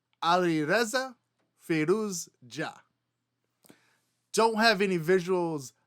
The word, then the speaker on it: Alireza Firouzja: So here we have Alireza Firouzja. Alireza Firouzja.